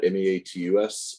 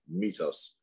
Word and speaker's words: meatus: the urethral meatus meatus it's spelled m-e-a-t-u-s so you want to say meet us but it is pronounced meatus this is an opening